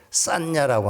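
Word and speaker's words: saññā: 상이라고 하는 말은 인도 말에 싼냐라고 하는 말입니다. 싼냐. 한번 따라서 해보실래요? 싼냐. SANJA 이렇게 쓰는 건데 싼냐라고 읽습니다.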